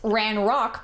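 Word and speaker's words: Ranrok: Well, um you Well, um it's it's ran rock, but yes, still you are correct.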